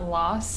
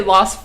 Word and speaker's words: Los: your analysis of the Los Angeles and I want it pronounced that way because I hate when people pronounce LA like Los Angeles like it's not loss it's lo it's it's masculine not feminine and it annoys me